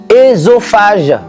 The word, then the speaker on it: œsophage: prononcer eux dans l'eau les mots formés à partir du grec devit être prononcé et ça ve dire